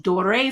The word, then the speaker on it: Doré: Okay, so for example, I am a huge Dore fan. It's spelled D-O-R-E with that little thingy at the top.